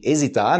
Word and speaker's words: hesitar: no exitar e exitar tem que ter muito cuidado com essa pronúncia Ok exitar ex Z hesitar né tipo ah não